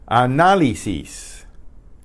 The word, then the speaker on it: análisis: Análisis. Análisis. Análisis. Análisis. Análisis. Análisis. That means analysis. You write an accent on the second A. Análisis.